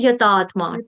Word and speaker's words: यतात्मा: किसी माता जी ने अभी यातमा बोला यातमा नहीं है यतात्मा त का खा लिया को मत खाइए।